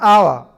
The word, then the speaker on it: hour: orange an umbrella an hour an honest man and air it will be noticed that the words our honest a begin with a vowel zone as the initial consonant H is not pronounced before a word beginning